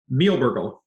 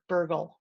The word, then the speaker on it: Mihelbergel: Mihelbergel. Bergel. Yep. Bergel. Nice. You got to get the German and the French in there. Okay. The German front end, the French ending.